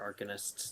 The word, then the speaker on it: arcanist: plenty of other arcanists that sell gear. Yeah. Yeah. Still doesn't sound right, even when you say it. It's pronounced arcanist.